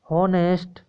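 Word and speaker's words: honest: 15 number question है भ्रष्ट इज होनेस्ट मैन, 15 number का जो होगा ऑप्शन नंबर बी जो हॉनेस्ट है एच साइलेंट है और ए के साथ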